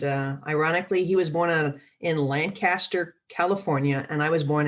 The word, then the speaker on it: Lancaster: But in California, it's Lancaster. So spelled the same, but just it's pronounced differently.